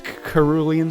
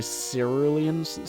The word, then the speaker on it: Cerulean: yeah that's another one I mispronounce kuru Liam city I think it's actually cerulean yes early in city